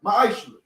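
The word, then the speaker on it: מעשר: Means tenth in Hebrew, and is pronounced ma'ashra.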